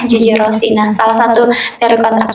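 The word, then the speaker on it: Rousseau: Dulu kita bacanya Gigi Rosai, ternyata itu adalah Gigi Rossi.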